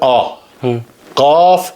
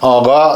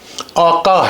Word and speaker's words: آقا: فارسی کا جو تلفظ ہے وہاں قاف کو غین پڑھتے ہیں. اصلی جو فارسی اسپوکن انسان ہے وہ قاف کو غین پڑھتے ہیں, اس لیے وہ آغا کہتے ہیں. لیکن اصل فارس ٹیکسٹ میں جائیں گے تو یہ آغا صحیح نہیں ہے, آقا ہے, آقا.